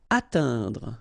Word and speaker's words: atteindre: Atteindre. So remember when you combine this E-I-N together, you get the sound un.